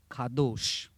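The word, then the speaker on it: קדוש: जो इब्रानी शब्द है उसे कहा जाता है खादोश। QDOSH। इंग्लिश में अगर इसको लिखेंगे तो इसका उच्चारण इस तरीके से होगा, खादो।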